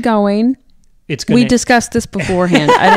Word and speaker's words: Gawain: I look at it I read the way it's spelled g-a-w-a-i-n go Wayne I mean I know it's not that I've been saying go in I'm not gonna say Garwin because that's just phonetically incorrect so I'm not gonna